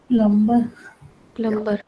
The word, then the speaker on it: plumber: Plumber. Plumber मत बोलो. English का यही तो रोना है English के साथ. The B is silent.